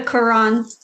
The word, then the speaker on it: Quran: The Quran.